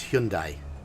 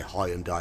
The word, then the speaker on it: Hyundai: connect correct pronunciation is Hyundai yeah if you're American well that's the Japanese or the Korean pronunciation but in Britain we say hi and die but we're wrong unfortunately and die a Birmingham